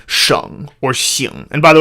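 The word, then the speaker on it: 省: So there's a character that is normally pronounced sheng, and it means like a province, in China or maybe in Canada or something, sheng. And sometimes, though, it is pronounced xing.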